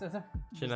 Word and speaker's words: Shinazugawa: Shinazugawa. Shinazugawa, that looks cool. It's Shinazugawa, like a bunch of cards. Okay, my turn again. Come here. All right. Yep. And I got the same one. Shinazugawa's.